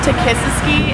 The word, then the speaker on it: Takisiski: It's Takisiski, and it's spelled T-A-K-I-S-I-S-K-I.